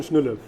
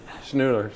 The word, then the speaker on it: Schnuelle: Schnuelle. Schnuelle.